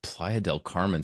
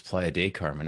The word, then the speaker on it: Playa del Carmen: your appropriate pronunciation of Playa del Carmen? So often people drop the L on the del and it becomes Playa de Carmen. It's just not called that.